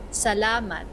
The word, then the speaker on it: Salamat: Salamat means thank you. You might remember hearing it in SLMT. Let's slow it down for pronunciation Salamat. practice. Salamat.